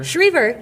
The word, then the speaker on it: Schriever: Did I say it wrong? Schriever? Schriever. You said it right.